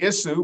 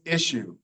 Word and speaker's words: issue: issue, but no, it's issue. And this word looks like it would be sugar, but no, it's sugar. And then sure. So sometimes we say the SH sound when there's no H.